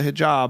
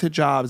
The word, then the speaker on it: hijab: it's like you wear yamuk you have the hijab am I saying it right yes hijab yeah um people think it's conservative because traditionally